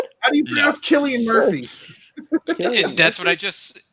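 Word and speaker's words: Cillian Murphy: in Hollywood long enough to know how to pronounce Killian Murphy that's what I just Killian Murphy that's how you say it it's not silly and Murphy or so Billy it's Killian Murphy get its try to pronounce thirsty shirt psoriasis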